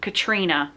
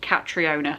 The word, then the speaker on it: Catriona: for needless Street by my brain wants me to say Katrina but apparently the author pronounces it catriona so catriona Ward this is the book